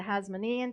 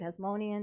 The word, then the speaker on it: Hasmonean: we come into the Hasmonean period, Hasmonean, depending on how you want to pronounce it. I go both ways.